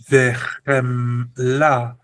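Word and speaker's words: וְחֶמְלָה: The next word is vechemla, vechemla, vechemla. Okay? Shva says we must pronounce this as the V sound. It's got no dagesh, so it's not B, it's V or ve.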